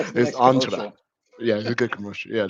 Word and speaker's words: Entra: Sentra and I go this is how you pronounce it entra as in as in Commandos and I have a picture of Predator with on SW saying is entra entra yeah a good commercial yeah there you go